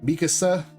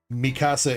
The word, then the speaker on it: Mikasa: Mikasa, why do I always say that like Spanish? Mikasa, I think is how you say it properly. I'm always saying it like Mikasa in Spanish for some reason.